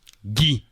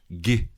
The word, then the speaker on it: Guy: Bon, la réponse quand même, le nom du personnage de Marina Foïs, Guy. Gay. Gay. Gay. Ok. C'était ça la blague, vous vous souvenez pas? Guy. Ils arrivent pas à prononcer le mot Guy.